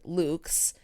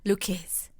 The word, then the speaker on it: Lucques: originated at her restaurant luca luke's which is spelled l u q l u it's l u c q u yes and i would have pronounced it like lucas because i'm an idiot